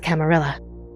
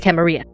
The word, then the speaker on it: Camarilla: largest of which is the camarilla or the camarilla whichever you would have preferred pronounces great panini times